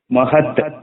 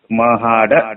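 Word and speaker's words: महाड: ಪರಿಚಯ ಆಗಿದ್ದಾರೆ ಅಂತ ಹೇಳಿ ಮಹದ್ ಅಂತಾರೆ ಮಹದ್ ಆದರೆ ಈ ಕಡೆ ಮಹಾರಾಷ್ಟ್ರ ಸಮಿತಿ ಇರತಕ್ಕಂತವರು ನಮಗೆ ಗೊತ್ತು ಮಹಾಡ ಅದರ ಹೆಸರು ಇನ್ನೊಂದು ಹೇಳಬೇಕಾದರೆ ಮಹರ್ ಅಂತಾರೆ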